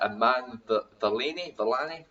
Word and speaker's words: Iman Vellani: Is it Iman Vellani? That's it. Vellani. Is that even Where is it? starring Iman? Oh, it's starring Iman Vellani.